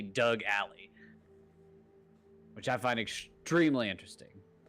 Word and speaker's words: Alley: achatas and Doug alley Ally is not spelled like your your fiance's name a-l-l-e-y but his name is definitely Doug Ally which I find extremely